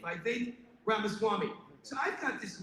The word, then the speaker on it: Vivek: and by the way it is by fake which Reigns uh rhymes with tape that's how you remember it's by Fate that rhymes with cake by vague ramaswamy so I've got